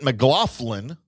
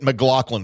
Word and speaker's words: McLaughlin: One of them pronounces it Mlofflin with an F and the other one pronounces it Mlaughlin.